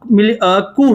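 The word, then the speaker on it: coup: तो अगस्त 1991 में क्या हुआ, कू हुआ। यहाँ पे इसको कू वर्ड बोला जाता है। ठीक है, इसको क्या बोलेंगे, कू, पी साइलेंट रहता है।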